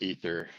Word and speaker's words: Aether: Oh, Aether, how are you? Did I pronounce your name right? I actually go by Aether, but it's technically pronounced Ether.